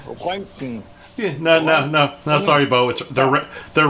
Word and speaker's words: Röntgen: That the maximum radiation level is between 10 and 100 rentigens per hour. I think that's another name for rent. At least he tried to pronounce Rentigens. He tried. It's called Röntgen.